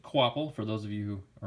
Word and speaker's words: Kvapil: Yes, it's pronounced Kvapil for those of you who are not quite sure.